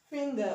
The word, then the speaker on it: finger: produce one sound but when you have a word like finger, okay, finger, okay, now the n will be pronounced okay, and the g will have e sound, g, okay. Unlike this, where you have